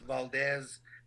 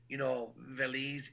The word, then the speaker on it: Velez: I don't like when my name, Velez, is mispronounced, Valdez, Velez, and I appreciate you taking the time to learn it because that's what a professional does.